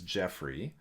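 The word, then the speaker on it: Geoffrey: a great example so my name is Jeffrey and it's spelled GE e o FF re y often I'm referred to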